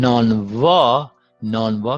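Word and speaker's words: نانوا: And then v occurs at the second syllable, at the beginning of the second syllable, and that is pronounced b sound, not u.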